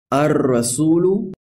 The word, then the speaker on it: الرسول: So we say in this example, الرسول, and not الرسول.